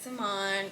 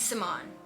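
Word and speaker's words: Cimone: If you didn't know how to say my like YouTube name or my Instagram name, it's Simone. Like, it's Simone. C's are pronounced with an S, okay guys?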